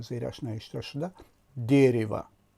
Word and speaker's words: дерево: درخت را افاده میکند و زیرش نوشته شده дерево و زده در هجای اول افتاده است که بلندتر تلفظ میشد، یعنی дерево، نه дерево، дерево.